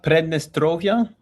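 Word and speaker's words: Pridnestrovie: What did you how do you pronounce it? They call it Prednestrovia, Muldovven Republic.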